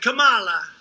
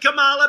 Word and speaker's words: Kamala: booker and you had kamala you know if you pronounce her name wrong she goes crazy come on like a comma it's like a comma